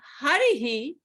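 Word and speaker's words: हरिः: In the word Harihi, the vowel before the Visarga is E. So the pronunciation of the Visarga will be a he sound.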